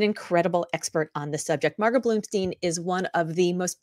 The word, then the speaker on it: Margot Bloomstein: And Margot said that when her name is mispronounced, it's mispronounced not as Margot Bloomstein, but as Marmot Bloodstain.